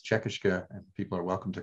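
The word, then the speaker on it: Čekiškė: So I am trying to use the Lithuanian name, which I believe is Czekishka, and people are welcome to correct me.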